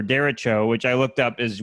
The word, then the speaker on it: derecho: her anxious is the i believe it's pronounced the dereko or derecho which i looked up